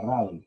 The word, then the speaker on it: Rudolf: 162 años hasta la actualidad, en la cual este eminente científico ruso, que se llamaba Radolf, así no se escribe, sí. Radolf, bueno, se pronuncia Radolf, pero se escribe Rudolf Virchow.